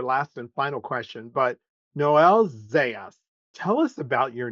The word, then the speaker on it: Noel: Catholic school and uh the nuns were pronounced my name no and uh they uh they would say to me your name is not Noel it's it's no and I'm like it is Noel you know so my entire